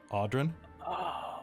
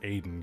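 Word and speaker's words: Odhran: odar how's it pronounced it's o d h r a n audrin audin yeah um hold on let me find my freaking it's probably pronounced Aiden knowing knowing probably I think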